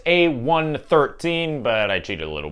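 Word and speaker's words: A113: a number of Pixar artists so it's normally pronounced a13 but I cheated a little because you know one and one next to each other kind of make 11 so the correct answer is a 113 if you want to pronounce it that way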